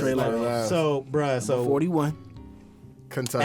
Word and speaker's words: Lyles: Yeah, Lyles, right? How you Yeah, pronounce Trey it? Lyles.